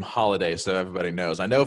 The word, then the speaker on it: Holladay: Yeah, so it's funny because I've told people it's like Holladay. So it's Holladay. So it's like holiday.